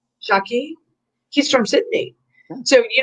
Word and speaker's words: Jacqui: How do you say that? JACQUI. Jackie.